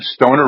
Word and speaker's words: Stoner: Are you aware that Stoner rhymes with boner?